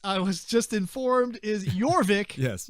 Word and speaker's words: Jorvik: Jorvik. Yeah, there's a J. I think it's pronounced with a Y, though.